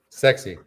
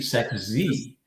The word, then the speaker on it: Sex Z: Sexy. Sex Z. Yes, not sexy, Sex Z. So I think it's a play on sexy, but I'm sure.